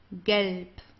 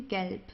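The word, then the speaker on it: gelb: Galp. Okay. Galp. So here the B at the end, it's pronounced more like a P.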